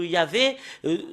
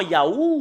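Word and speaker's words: יה: C'est Yah qu'on le prononce dans la langue hébreu. Parce que voilà, le fait de le lire en hébreu, dans la translittération, c'est Hallelujah. Et quand les Hébreux le prononcent en Ya, bah il faut pas le changer avec d'autres choses. Il faut pas le changer en Yahoo ou il y a d'autres choses.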